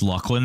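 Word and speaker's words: Luclin: Uh I have always pronounced Lucklin that way. Uh that's correct pronunciation. And anyone that says different is wrong.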